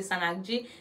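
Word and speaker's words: sannakji: Li écrit S A N trait d'union N-A-K-J-I, je crois. M'kwè ça. Kon sa l'écrit, mais li prononce Sanagi.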